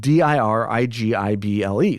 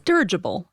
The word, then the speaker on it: dirigible: to what I found it's spelled D i r i g i ble so dirigible yeah that's not what it no it's derable so you were correct d derable no no uh so he